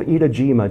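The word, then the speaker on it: Etajima: to a school of idajima Japan itajima not Iwo but Eda ETA idajima is in Hiroshima Bay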